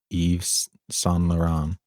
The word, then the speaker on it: Yves Saint Laurent: lauren a biopic of influential french fashion designer yves saint laurent or saint laurent how bad am i mispronouncing that yeah i think you did pretty